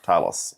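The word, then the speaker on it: Thales: Just for people who are only bit part-time players in this space, Talos is written but it's pronounced Talos.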